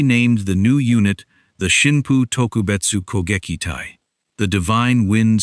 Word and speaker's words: Shinpu: Onishi named the new unit the Shinpu Tokubetsu Kekitai, the divine wind special attack unit. A name that could also be read using an alternate pronunciation of the same characters as kamicazi.